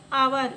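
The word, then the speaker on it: hour: एन आवर, इसको आप पढ़ेंगे एच ओ यू आर, एच तो कॉन्सोनेंट है लेकिन इसका जो साउंड आ रहा है पढ़ने पर, एन आर, इसको हम पढ़ते हैं आर, इसमें एच साइलेंट होता है, तो आप इसको क्या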